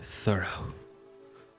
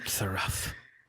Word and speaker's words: thorough: than it was it's it's pronounced thorough thorough the row got it go to sleep not the rough it's thorough as soon as he